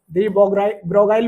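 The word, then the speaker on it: de Broglie: और dual nature में एक कॉन्सेप्ट था जिनका नाम था डी ब्रोगली साहब। अपने पास साइंटिस्ट कौन थे? डी ब्रोगली। डी ब्रोगाइल भी प्रोनाउंसिएट करते हैं कुछ टीचर्स इसको, ये लिखा हुआ है।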